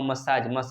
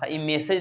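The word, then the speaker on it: massage: physiotherapy using exercise और मसाज मैसेज नहीं है सर मसाज है क्योंकि मैसेज का स्पेलिंग ए नहीं होता है ठीक है तो मसाज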